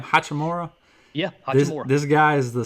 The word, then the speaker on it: Hachimura: Yeah, Hachimura.